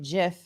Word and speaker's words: GIF: um I'm also getting hate from people by pronouncing it Jif even though that's how the creator of the